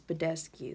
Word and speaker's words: Badescu: It's Badescu.